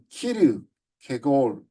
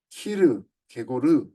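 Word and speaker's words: Kierkegaard: 우리 흔히 이제 케르케고르가 케르케고르, 키르 케골, 키르 케고르 뭐 여러 가지 이름으로 나오는데 이분은 이제 덴마크 사람이기 때문에 우리 발음이 좀 어렵습니다.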